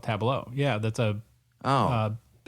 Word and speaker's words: Tableau: I haven't seen the spelling of Tableau, but the software is spelled T A B L E A U. So very kind of a French sort of tableau.